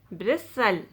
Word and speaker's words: bristle: t in this word normally silent t if a word ends in s t l e you don't pronounce that e t will be silent you pronounce this word is castle hustle bristle nestle whistle wrestle you don't ever say